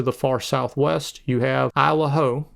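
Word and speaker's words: Isle au Haut: Over to the right, there's the Schoodic Peninsula, and then to the far southwest, you have Isle Ho, which is how I understand it's pronounced.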